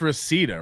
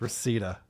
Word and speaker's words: Reseda: You know it's Reseda, right, Carl? Yes. Okay. It's Reseda.